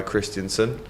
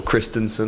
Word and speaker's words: Christensen: It's a good ball, and it's headed out by Christensen. Or Christensen, I should say. Get my pronunciations right.